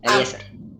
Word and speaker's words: Eliezer: No, ¿Cómo se dice? Eliezer, así, Eliezer. como si no te... Exacto, así, Eliezer.